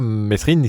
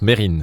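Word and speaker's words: Mesrine: c'est meserine enfin mais mais meserine ne se prononce pas meserine ça se prononce Merine c'est c'est Stéphane qui me l'a appris au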